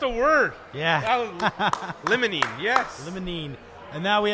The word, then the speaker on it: limonene: Tyler, pronounced a word. Yeah. Limonene, yes.